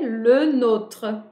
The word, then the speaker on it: le nôtre: Le, il doit être prononcé. Le nôtre. Le nôtre. Le E, il ne chute pas. Quand on parle rapide en français, a gente tende à não pronunciar os E's. Mais nesse caso, a prononciation dele est obrigatoire. Donc, a gente tem que falar le nôtre.